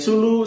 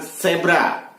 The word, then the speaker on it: Zulu: Huruf Z mestinya diucapkan Zulu, akan tetapi diucapkan Zebra. Contoh, JZ11RZN mestinya diucapkan Juliet Zulu 11 Romeo Zulu November.